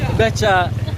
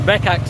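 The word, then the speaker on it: becak: It's Becha. Okay, thanks. Again, we've been saying it wrong. We've been saying bekak, so that's why no one's understood. It's called Becha.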